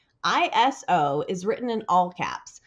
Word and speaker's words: ISO: like an acronym is, it should actually be pronounced as a single word and is commonly referred to as ISO.